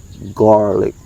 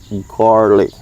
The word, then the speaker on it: garlic: Okay, so the sound of garlic, when you say this, it sounds like the word car, R. Okay, that's why I say garlic, garlic.